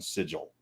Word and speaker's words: sigil: sidebar that's set in sigil sigel yes it know it's sigo it's hard g the if i'd say